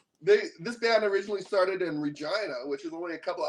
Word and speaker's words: Regina: And he said, tomorrow we're playing in Regina. And I'm like, that's not how you say it, man. You say Regina. And he like busted out laughing. He's like, are you serious? I'm like, yeah, it's Regina.